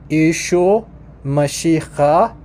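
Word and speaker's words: ܝܫܘܥ ܡܫܝܚܐ: So in Eastern, it's pronounced Yeshua Mashiach.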